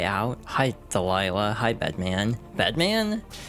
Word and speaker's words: Bedman: Bedman. You have to emphasize this correctly. It's not bed. It's bed. Bedman.